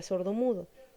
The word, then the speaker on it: sordomudo: Cuando vemos las palabras compuestas, vemos que al juntarse obtenemos la palabra sordomudo.